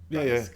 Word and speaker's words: Basque: Basque cheesecake. Is that how you pronounce it? Yeah. Bask.